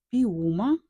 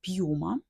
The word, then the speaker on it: Piuma: спробувати це каряджи артикул піума чи як кажуть італійці пюма ну читається типу якось так 320 м на 100